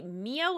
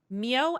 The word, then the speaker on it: Mio: Hey Doug, have you seen the movie Mio in the Land of Far Away?